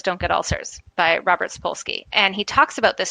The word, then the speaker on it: Sapolsky: How am I supposed to pronounce that? Sapolsky. Sorry. So there's a great book called Why Zebras Don't Get Ulcers by Robert Sapolsky.